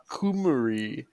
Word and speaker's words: Cymru: Cymru is pronounced Kumari.